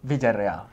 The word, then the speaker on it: Villereal: Villereal.